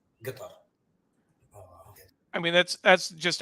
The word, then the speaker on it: Qatar: Arab would say so the proper proper way of pronouncing it is the colloquial pronouncing it is guitar I mean that's that's